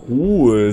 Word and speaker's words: Proul: Proul, so spricht man das aus.